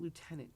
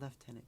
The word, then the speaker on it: lieutenant: the person you know the announcer pronounced it lieutenant colonel uh and that got my put my teeth on edge because in Canada it's pronounced left tenant colonel and the gentleman who is announcer is Canadian and he should know that.